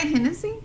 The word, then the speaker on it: Hennessy: Is that Hennessy? Like the liquor Hennessy? Yeah. That's the way it's pronounced, yeah.